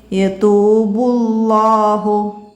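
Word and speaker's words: يتوب الله: ഇനിയാ യതൂബുല്ലാഹു, ബുല്ലാഹു, ഇവിടെ ഈ അലിഫ് ഉച്ചരിക്കണ്ട, യതൂബുല്ലാഹു അലൈഹിം. അപ്പോൾ ഇവിടെ ലമ്മു വന്നു, കനപ്പിച്ച് പറയണം കേട്ടോ. ഇനിയാ ചെറിയ വേർഡ്സുകളുണ്ട് ഇവിടെ.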